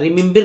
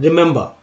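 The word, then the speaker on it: remember: गलत हो जाता है, रिमिम्बिर नहीं पढ़ना है, क्या पढ़ना है रिमेंबर।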